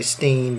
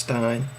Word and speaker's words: Finkelstein: I always recommend Ilan Pappé and Norman Finkelstein, or as some people say, Steen, but I don't. I think it's pronounced Stein. Noam Chomsky, Jeff Halper, Ali